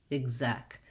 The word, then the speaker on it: executive: think about is that the zek syllable with the red tent vowel is your stressed syllable. And so even starting with zek may help you. Zek, exec. This first EX says the I and the G sound in executive.